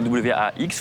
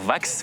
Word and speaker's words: wax: Déjà, ça s'écrit W-A-X, faut pas dire vax, faut dire wax. Parce qu'il y a des gens qui disent vax, c'est non, c'est wax, ok?